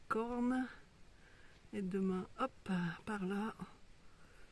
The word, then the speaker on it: Corn: Marine, elle est belge et elle s'est installée quelques kilomètres avant le village de Corne. D'ailleurs, on prononce Cor. Apparemment, les locaux ne prononcent pas le N.